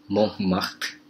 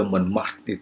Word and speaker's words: Montmartre: Gereja Sacré-Cœur itu Sacré-Cœur di Montmartre. Sebaiknya Anda belajar pengucapan bahasa Prancis yang menyulitkan itu. Mont bukan mon, kalau orang-orang Inggris masuk ke Montmartre itu menyebutnya Montmartre. Jadi orang Paris menyebutnya Montmartre, ya.